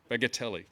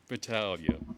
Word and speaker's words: Battaglia: And to Rich Bagatelli. I got your name wrong, Rich. Battaglia.